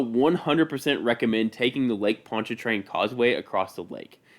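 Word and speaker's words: Pontchartrain: is not spelled like it is pronounced it is spelled p o n t c h a r t r a i n Ponch train make sure you say it right they will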